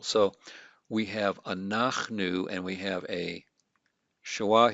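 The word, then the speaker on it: אֲנַחְנוּ: a short a vowel so it's going to be a silent shawa so we're going to divide all right let me change my color we're going to divide here ah then and that's a syllable divider silent shawa by definition our we divide after it and then we have new this is just a consonant vowel so we have an open syllable a closed syllable and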